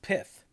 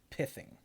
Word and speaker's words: pithing: and yeah it's it's the i is in kit so it's pithing and the th is in thigh so it's piving well